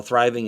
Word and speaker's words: thriving: that and say well thriving is a two-syllable word it's really a three-syllable word because there's a microscopic little break between the th sound and the rye sound and the ving sound wow that's like micro